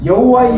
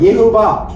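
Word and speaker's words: יהוה: 여호와는 독일어잖아. 독일 발음이잖아. 멜로. 히브리어로는 뭐라 그럴까? 멜로. 우리가 여호수스. 이스라엘에 가가지고 하나님을 여호와라 그러면 걔들이 알아들을까? 영어권에서는 하나님을 뭐라 그래? 영어에서는 대문자로 가시잖아. 여호와는 독일식 발음이야. 여호와. 자, 원래 하나님의 이름, 이스라엘에 가서는 어떻게 말해야 되냐면 이렇게 말해야 됩니다. 해보세요. 예흐바. 예흐바. 이것이 히브리어로 딱 하나님의 이름입니다.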